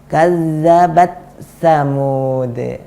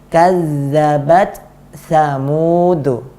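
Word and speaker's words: كذبت ثمود: Jadi kita bacanya seperti ini, kazzabat samud. Mana angin dari huruf ta? Nggak ada. Kenapa nggak ada? Karena gabung ke huruf sa. Ini tidak benar. Yang benar adalah kazzabat samud.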